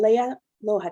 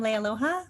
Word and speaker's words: Lea Aloha: go on to uh leia loja next i'm sorry i think i got your name wrong again that's okay there's a lot of vowels in there i am lea aloha um i am the general